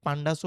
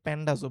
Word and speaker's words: pandas: পান্ডাস এর মাধ্যমে আমরা অনেকে পান্ডাসও বলে অনেকে প্যান্ডাসও বলে। যেটাই হোক প্রোনাউন্সিয়েশন আপনারা যেটাই বলেন পান্ডাসটাই।